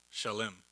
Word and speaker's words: Salem: melchizedek melchizedek is a king and priest of salem that's how we pronounce it because it looks like salem down the road from here but it's uh shalim it's ancient jerusalem before it was called jerusalem